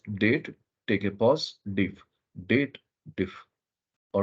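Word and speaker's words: DATEDIF: People always does a wrong pronunciation about that. They believe there is a if clause is there and they should read it as dated if. But technically this formula is related to the date.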